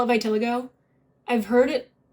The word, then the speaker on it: vitiligo: acne scars would be nice um you know vitiligo would be nice is it vitiligo i i'm gonna call it vitiligo i've heard it vitiligo but that just sounds fake to me that